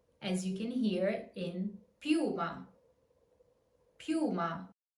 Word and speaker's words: piuma: As you can hear in piuma. Piuma. Remember, the reason this U is strong is because it is stressed. So on the dictionary, you can see that it has the accent.